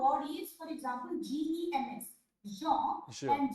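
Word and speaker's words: gens: So now sir, the word is, for example, G-E-N-S, Jean, Sure. and J-E-U-N-E, Jean. So both are Jean only. no? Yeah, Jean so G-E-N-S and J-E-U-N-S. Jean, jeune.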